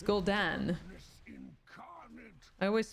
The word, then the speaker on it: Gul'dan: Oh, Gul'dan. It's Gul'dan. Incarnate. I always mispronounce the names.